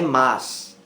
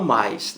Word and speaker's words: mas: Poucas pessoas pronunciam corretamente aí o mas. É mas, não fui aprovado, e não mais. Não existe esse i aí na conjunção adversativa.